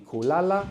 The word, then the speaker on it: kula: the word, we know we like the accent on the penultimate syllable, on the second last syllable, which is why it changes between kulala, to sleep, and kula, to eat.